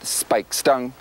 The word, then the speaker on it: Speightstown: So we've obviously pronounced it Speightstown right from the word go.